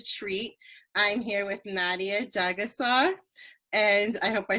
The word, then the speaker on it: Jagessar: I'm here with Nadia Jagessar, and I hope I said your last name right.